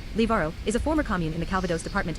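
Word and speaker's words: Livarot: Liberat French pronunciation liaro is a former commune in the Calvados department in the Normandy region in northwestern France on January 1st 2016.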